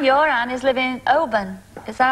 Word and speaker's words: Oban: And Anne, your Anne, is living in Oban. Is that how you pronounce it? That's Oban.